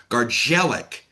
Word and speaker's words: Gardzielik: shut out 10 round unanimous decision over Camille Gargelik and and that's that's the proper pronunciation of his name.